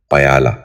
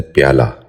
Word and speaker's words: پیالہ: سبق شروع کرتے ہیں۔ پہلا لفظ ہے پیالہ۔ یہ غلط تلفظ ہے، درست تلفظ ہے پیالہ۔ دوبارہ سنیے، پیالہ۔ بچوں